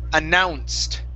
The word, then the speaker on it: announced: Okay, next up is, okay, this word here, the word is announced. Make sure to pronounce the N right before that C, okay?